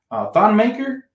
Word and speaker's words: Thon Maker: Thon Maker, that's an interesting name. I just see the thing about me, I don't trust guys like Thon Maker, not because his name rhymes with thong, but because he's very sloppy in the paint.